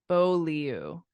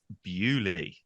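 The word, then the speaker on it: Beaulieu: like ooh follow you actually we say it Beauty oh blue Beauty well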